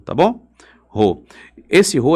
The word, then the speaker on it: rho: Essa letrinha grega se pronuncia assim, ó. Rho, tá bom? Rho.